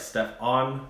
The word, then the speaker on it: Stefan: I prefer Stefan. Sounds like Steph On. Sounds like Stefan. The O is silent for the A.